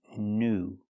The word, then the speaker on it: new: With the word new, we see the most common pronunciation of ew. It's pronounced oo. The long ooh sound like food and moon. Pronunciation new.